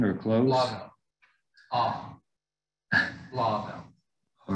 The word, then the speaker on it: Blauvelt: So Blauvelt, is that the right pronunciation or close? Blauvelt.